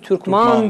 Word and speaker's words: Türkmen: Türkman, hatta şu an mesela hala Arap kardeşlerimiz Türkman diye telaffuz ediyorlar. Biz Türkmen diyoruz ya, Türkman.